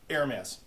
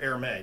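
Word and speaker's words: Hermès: an iridescent gray silverish air mass or air may depend on how you say air mass i think it's a proper pronunciation uh i don't know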